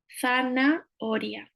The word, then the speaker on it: zanahoria: So remembering the th again here, and remembering that the H is always silent in Spanish. Zanahoria, zanahoria, or more than one with an S.